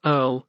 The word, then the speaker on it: URL: up and become internationalisms ieurl pronounced Earl uniform resource locator to